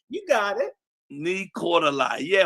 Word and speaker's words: Nii-Quartelai: Nii-Quartelai. You got it. Nii-Quartelai. Yeah, if you say it phonetically, Nii-Quartelai, you can say it. But if you try to say it from reading it, it'll be Nii-Quartelai Quartey.